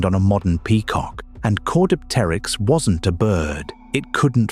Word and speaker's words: Caudipteryx: The second dig produced a specimen called Caudipteryx, pronounced core-dip-ter-yx. This one wasn't just fuzzy,